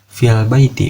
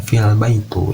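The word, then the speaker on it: في البيت: Jadi misalkan al-baitu disimpan setelah fi, berarti fil baiti bukan fil baitu.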